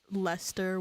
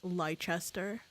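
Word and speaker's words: Leicester: Yeah, because I thought it'd be like you know how for a bit I thought Lester was pronounced Lychester.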